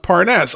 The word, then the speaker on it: Parnas: or he excuse me he said oh pronounced parness okay aren't you on